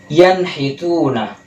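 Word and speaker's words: يَنْحِتُونَ: Lalu yang kelima maksudnya, yanhituna, nun sukun bertemu dengan huruf ha, dibacanya menjadi yanhituna. Yanhituna, transisinya cepat, tidak ada dengung.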